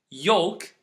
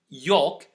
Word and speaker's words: yolk: You can notice again that there is a letter that I didn't pronounce this time, and that's the letter L. Here, the rule is a little bit tricky because we didn't pronounce the L for different reasons. So maybe if we want to generalize this rule, we can say don't pronounce the L when it's preceded, meaning it comes after A or O, and after